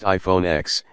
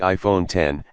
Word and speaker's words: iPhone X: It's not pronounced iPhone X, it's the iPhone 10, and the screen takes up the whole of the phone's front panel.